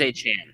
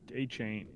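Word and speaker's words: Achane: it's aan aan aan I heard it was aan yeah I think it's a Chan a Chan yeah he doesn't want to be called a CH a chain a CH even a chain it's spelled like a chain so yes I would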